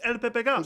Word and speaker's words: El Pepe: asked okay and also is it el papers or el pepe i'll i'll put the girls well maybe shishigami gets it should come again to actually pronounce it properly you know yeah because it's because it's spanish it's el pepe yeah okay yeah like